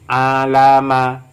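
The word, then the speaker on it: عَلَمَ: Alama, alama. Mengapa dibaca alama? Karena ini setelah fathah tidak ada alif.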